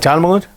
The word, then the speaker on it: Talmud: The following brief comments on the Talmud, how do you pronounce that? Talmud.